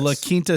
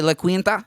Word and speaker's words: La Quinta: La Quinta Suites. Yeah, La Quinta Inns and Suites.